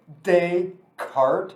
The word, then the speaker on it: Descartes: descartes died in 1650 say his name right say day cart renee descartes don't say descartes you'll sound like an idiot nobody will nobody will